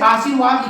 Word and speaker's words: आशीर्वाद: इसी तरह से जैसे बहुत लोग कंफ्यूज करते हैं, जैसे आशीर्वाद लिखना है तो आशीर, अब यहां से र का आधे र का उच्चारण हो रहा है, इसके बाद जो वर्ण